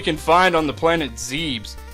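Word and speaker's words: Zebes: find on the planet zebs it's pronounced zeb's by the way not zebeth later days guys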